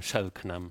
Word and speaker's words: Selknam: Hace 30 años me topé con la historia de estos ONAS o Selknam, como se llaman ellos. Selknam. ¿Cómo que es? fueron Selknam. Selknam. Algunos pronuncian Shelknam Selknam.